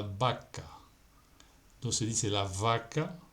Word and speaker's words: vaca: La consonante V se pronuncia B, como la letra B, como en la vaca.